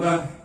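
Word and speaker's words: ب: Cara baca ba adalah merapatkan kedua bibir. Bibir atas dan bawah bertemu tapi lembut. Ba. Sifatnya qalqalah ketika dia mati dipantulkan. Bab.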